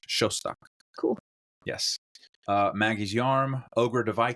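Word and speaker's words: Szostak: It's the last name is spelled SZOSTOK. Ooh, cool. But that's pronounced like an SH in English. Shostak.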